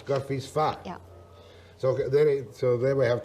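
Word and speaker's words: Gorffwysfa: Gorfisfa is how I pronounce it. Gorfisfa. Yeah. No S. No S. Gorfisfa.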